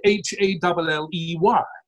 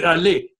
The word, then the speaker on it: Hallé: In German, it would be Halle, yeah, with an er sound at the end. And the French would do Hallé, unless you told them otherwise.